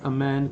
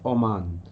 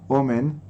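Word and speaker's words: אָמֵן: In addition, he should say the word amen clearly and properly, not oman, which does not have the same meaning as amen. Okay, so that's like depends like which pronunciation you're holding by. Like the Hasidish, the Litvish are like more to the side of omen than amen, because there's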